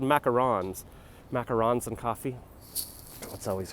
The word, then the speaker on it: macarons: I thought it was macaroons, but it's spelled macarons.